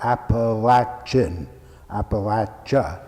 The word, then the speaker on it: Appalachia: latch as in a latch on a door Apple Action Pack jaw that's the proper pronunciation second it's a vast mountainous territory ranging